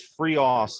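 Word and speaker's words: FreeOffs: by the way it's it's free offs like it rhymes with free us not os um just to just be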